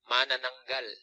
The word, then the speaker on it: Manananggal: And then the second one is like, if the whitest person you ever met pronounced this. Johnny Right, Galecki. Here we go. Here's the right one. Manananggal.